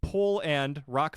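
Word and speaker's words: Pol'and'Rock: it is now called pole and rock festival and if you wondering why I pronounced it weird there's it's p Apostrophe a and apostrophe Rock Festival the only thing it's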